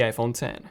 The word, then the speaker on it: iPhone X: 8 the iPhone X which is a Roman numeral and it's pronounced the iPhone 10 then that was followed